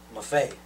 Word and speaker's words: Maffei: So Maffei is that correct? Is that? Well, actually, I pronounce it Maffei.